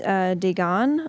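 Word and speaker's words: Deighan: there's spring quietly his real name is Vincent Dagon I believe is how you say it and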